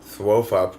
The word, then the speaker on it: Thwofup: I've got my character name is Thwofup, which is how you pronounce TWFP.